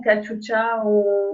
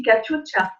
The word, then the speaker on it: Katyusha: Et puis, bon, Katyusha, c'est comme ça qu'on prononce aussi, Katyusha.